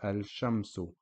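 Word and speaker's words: الشمس: with your original number short vowel so it's pronounced as al-shamsu Vasan the sun sham soon al-shamsu the last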